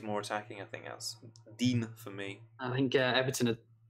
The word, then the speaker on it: Digne: So Clement Leroux says Balbuena or Digne. Dean. I keep trying to pronounce it as well. Dean.